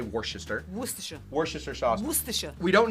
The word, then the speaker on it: Worcestershire: Or Worcester. It's Worcestershire. I think a lot of people but- say Worcester.